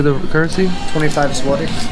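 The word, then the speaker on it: złoty: 25 Swati. Zawadi? Swati.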